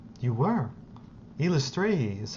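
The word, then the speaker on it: Eilistraee: Elistray is how you pronounce the god's name.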